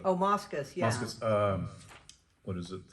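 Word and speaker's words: Moschus: But the document that for that one was John, I can't pronounce his last name, Mosicus. Moscus, yeah.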